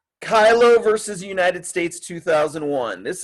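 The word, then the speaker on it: Kyllo: I've heard him pronounce that in interviews he's done, but in this video they pronounce it Kilo. But Danny Kylo was a gentleman in Oregon, as you can see right here.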